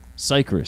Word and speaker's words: Cicrus: name because I'm going to say it wrong Cypress Cypress thank you guys so much you guys